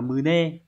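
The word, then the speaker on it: 胸: Cái này phải đọc là mune.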